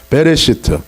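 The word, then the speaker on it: בראשית: 베레시트. 시작. 베레시트. 그 다음에 엑소더스. 출애굽기는 뭐라고 읽어요?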